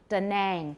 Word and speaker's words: Da Nang: And we do have that word in a place name, Da Nang, Da Nan in Vietnam. Da Nang, they'll say Da Nang.